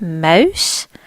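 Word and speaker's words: Maus: war-torn we see Mouse there's more emphasis on the owl sound Mouse here our next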